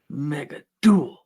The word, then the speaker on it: Mega Duel: me it's good enough Mega D that's how you say it Mega D Mega duel emphasis on the duel The Duel The Duel